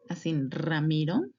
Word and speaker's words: Ramiro: then we have letter ramiro ramir can you sound the strong at the beginning and the soft at the end ramiro So it's always going to be like that.